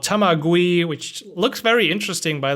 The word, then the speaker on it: Tamagui: Just like I said, Tamagui. GUI. Okay. Just like you said, Tamagui.